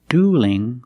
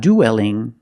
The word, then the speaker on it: dueling: they shouldn't duel so see the difference duel with a dark L and dueling with a light L because the L is between vowels in the word dueling and it's not delling don't pronounce that e it's one sound U plus a dark L du and dueling let's practice what are